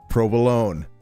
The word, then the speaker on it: provolone: always been minestronei and I've always heard it pronounced provolone not provolone So they're different.